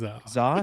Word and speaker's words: Kazaa: Because Kazaa, is that how you say it?